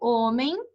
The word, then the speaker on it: homem: Por exemplo, homem, que eu não pronuncio, amígdala, que eu não pronuncio esse G.